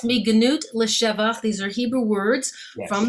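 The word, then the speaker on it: מגנות לשבח: After your LGBTQ Passover theology, but you talk about, and I'm going to mispronounce this, so I need you to correct me. But the Mignat Leshavak, the from degradation to praise. Yes, Miganut L'Shevach.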